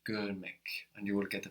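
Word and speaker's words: görmek: we get to learn a new verb GM gmck gmck means to see gmck gmck gmck and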